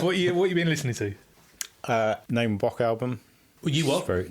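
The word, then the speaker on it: Naima Bock: Name a Bok album. You what? Name a Bok. I think it's Name a Bok. That's how you pronounce it.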